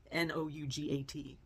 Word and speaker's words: nougat: There was even a stand that had all different flavors of nouga. N O U G- A T. Nouga. I don't know. Nougat, as how we Americans say it.